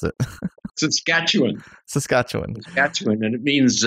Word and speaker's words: Saskatchewan: lot one okay now tell me how to pronounce it Saskatchewan Saskatchewan that's what it means uh gently flowing